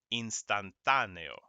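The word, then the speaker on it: instantáneo: use an accent mark if you see an accent mark that letter that syllable becomes louder it gets all of the stress all the emphasis okay so repeat after me lapis instantaneo ultimo okay no question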